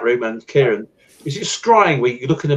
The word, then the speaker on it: scrying: It's just scrying. It sounds, rhymes with crying or something like that.